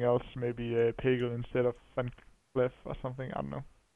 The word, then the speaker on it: Van Cleef: It is definitely Van Cleef. It's double E and it's pronounced. Yeah, Van Cleef. Yeah.